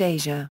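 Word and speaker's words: Eja: They were married on December 28, 1993, and Twain gave birth to their son Isha, pronounced Asia, in August 2001.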